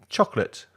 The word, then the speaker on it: chocolate: three vegetable vegetable vegetable the last word is only two syllables it's my favorite word chocolate chocolate chocolate another mistake